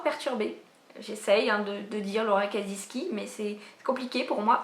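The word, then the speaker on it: Laura Kasischke: petit peu relou qui aime bien que la prononciation soit bien faite. Et du coup j'ai appris que ça se prononçait Laura Kaziski.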